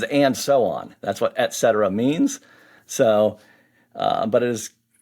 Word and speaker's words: et cetera: Well, I had 2 years of Latin in school, so I say it et cetera. So if you had Latin, you know et is and.